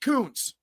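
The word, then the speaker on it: Koontz: Kyle said, last name pronounced Kuntz.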